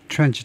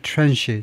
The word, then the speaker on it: tranche: 릴레이션 공개하는 것을 시작을 했는데 the first tranche 또는 tranche 둘 다 발음 가능합니다.